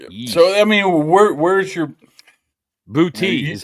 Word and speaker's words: Boutte: Booty is how you say it.